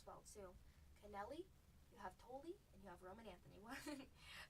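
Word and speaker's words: Tolle: How do you say this? Toli. Rhymes with guacamole. Toli.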